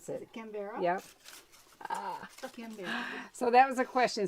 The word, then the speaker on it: Canberra: but I don't know how to pronounce Is it. it Canberra? Yep. Canberra.